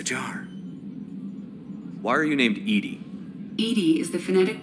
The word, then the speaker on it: EDI: airlock is a jar why are you named Edie Ed is the phonetic pronunciation of e d i that is an